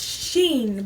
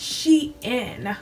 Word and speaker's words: Shein: This whole time, I thought it was pronounced Sheen, but it's actually pronounced Shein.